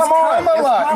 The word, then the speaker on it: Kamala: If Kamala. You said it without calling you Nancy Mace. It's Kamala.